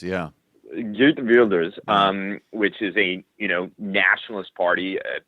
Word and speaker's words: Geert Wilders: And the right-wing party of, I can't pronounce it, I think it's Geert Wilders, yeah. Geert Wilders, which is a nationalist party, post-immigration, virulently anti-Muslim.